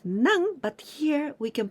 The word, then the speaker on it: 何: We use the pronunciation nan only in those two rules. The first one was DNT, des no to. And the second one is counter words. And all the others, we use the pronunciation of nani.